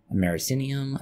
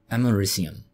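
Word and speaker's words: americium: Source we are using aminium aminium how is it pronounced amarum or amarum ah yes amarum the temptation to call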